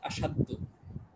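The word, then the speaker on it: أشدّ: একটা সব রিপিট হয়েছে তো আশদাদু ছিল তো উচ্চারণের সুবিধার্থে মূলত এভাবে ছিল আশদাদু আফআলু ওজনে আশদাদু উচ্চারণের সুবিধার্থে এক দালকে আরেক দালের মধ্যে প্রবেশ করানো হয়েছে আসাদ্দু আশাদু ঠিক আছে এই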